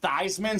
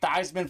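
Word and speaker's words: Theismann: Super Bowl champion and his name was actually pronounced Joe these men uh Folks at Notre Dame said let's change your name to be Theisman so we can say Theisman for the Heisman came up a little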